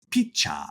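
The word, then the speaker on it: ピッチャー: So catcher is pronounced catcha or pitcher is picha or strike is sutiku.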